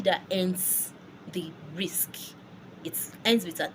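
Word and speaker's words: risque: I'll spell risk right now. R-I-S-Q-U-E. Risk. That is the spelling of risk in French. It also means the same thing. It means risk. I know the risk in French, English ends with a K. So now looking at that word, averagely as an English speaker, I would say risqué or risqué.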